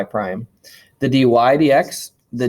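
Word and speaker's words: dy/dx: is pronounced y prime and the way we pronounce this is d y d x you could say d y over d x but generally i just say d y d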